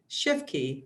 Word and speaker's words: Shifke: And I'm here with Shifke, right?